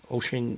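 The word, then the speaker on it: Wouxun: I would buy any tones from Bridgecom, just like I'd buy Oshing radios. Wuxon is the way it's spelled.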